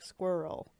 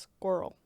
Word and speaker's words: squirrel: Because when German people say squirrel, they tend to, like, say it like it's 2 syllables, like squirrel. But it's more like girl, it's squirrel.